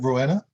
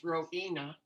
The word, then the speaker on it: Rohina: not mispronouncing your name is it roana it's rohina rohina i'm sorry oh regina